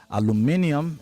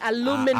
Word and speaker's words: aluminium: That's the English pronunciation. Aluminium. If you have an American orientation, you say aluminum, and you want to say aluminum, it is. That's also right. Also appropriate.